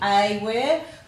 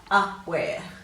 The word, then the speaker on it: aware: it so that would correct pronunciation would be a where we tend to give it a schwa sound and say up where but it should be aware if we said it